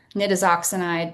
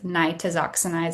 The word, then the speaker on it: Nitazoxanide: So you may hear this pronounced a couple different ways. Nittooxinide. That's not correct. It is nitoxinide.